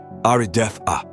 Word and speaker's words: Ardetha: Ardetha pronuncia-se Arideth-a.